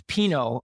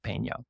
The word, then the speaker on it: Pinot: So that's Pinot over in Clayton, not Peno. Not Peno and not Peno.